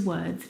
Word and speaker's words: word: world and work now you're probably mispronouncing these words because you are looking at the o r and you're trying to pronounce the vowel sound o like in do but this is incorrect the vowel sound is actually uh as in her work world word uh this is your